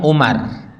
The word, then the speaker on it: Umar: Tapi kalau belakangnya ada waw, itu Amr bacanya. Tapi kalau nggak ada wawnya, Umar.